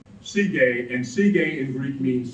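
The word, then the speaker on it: Sige: the ground Wow and the Greek name for that is CJ and now here I'm using our modern imitation of the ancient pronunciation CJ and CJ in Greek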